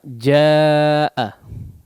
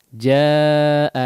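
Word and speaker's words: جاء: Jaa kita jumpai di sini ada huruf mad yang setelahnya adalah huruf hamzah. Ya. Berada dalam satu kata. Ya. Mungkin terlihat terpisah di situ ya. Jaa ya. Jim alif dengan hamzah. Tapi itu satu kata ya. Artinya datang ya. Jaa. Nah, kemudian di antara ininya juga ya contohnya wa anzalna minal mu'assirati ma'a ya. Ma'an fajjaja ma'a ya kadarnya 4 atau 5 harakat ya karena dia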